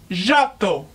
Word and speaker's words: Giotto: me by my first name say it again Otto Otto that is just like me my name